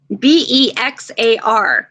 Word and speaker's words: Bexar: oh good how does bear spell his name b e x a r it's actually like the county Bexar yeah or the ex is silent that's awesome awesome I